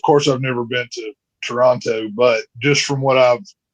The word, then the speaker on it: Toronto: Um so basically what you want to say is Toronto. The last T is silent. So it's in fact the O sounds like an A. Toronto.